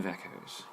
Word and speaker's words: Iveco: But this time we'll fill it with Italian Ivecos, or Iveco, depending on how you pronounce it. I've heard both.